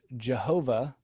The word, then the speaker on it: Jehovah: on this German, and in German the J was pronounced y, and actually in English it was pronounced y as well.